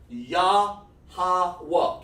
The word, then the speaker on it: Yahweh: It's pronounced Yahweh.